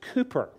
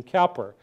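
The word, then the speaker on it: Cowper: was william calper now in britain his last name is pronounced cooper but so i won't confuse you i'll stick to our american mispronunciation calper brit might say well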